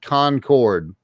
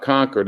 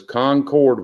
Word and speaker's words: Concord: up in in um concord you said concord that's correct not conquered it is concord when you're important what